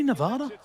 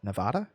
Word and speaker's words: Nevada: Is Carson City, Nevada?